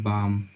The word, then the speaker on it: balm: कहता है यदि किसी इंग्लिश वर्ड में MFKD से पहले लेटर आए, से पहले एल लेटर आए, ठीक है, तो उस स्थिति में एल लेटर हमारी साइलेंट लेटर होती है। एग्जाम्पल देखते हैं, जैसे हाफ, HALF, ठीक है, जैसे मान लीजिए टॉक, TALK, ठीक है, जैसे बाम, BALM, ठीक है।